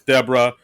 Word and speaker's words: Deborah: Yeah, because like basically, Connor calls her, "Oh, thanks, Deborah," and she says, "Oh, it's actually pronounced Deborah."